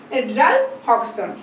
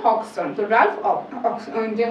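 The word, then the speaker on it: Hodgson: ওকে তো stupidity street written বা হন এখানে আমাদের উচ্চারণটা কিন্তু হবে না তো এটা হবে হক্সন হক্সন তোরাফ হক্সন যে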